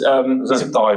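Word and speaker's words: Tadhg: Tad Furlong. He's Ty Furlong. Ty Furlong. Sorry.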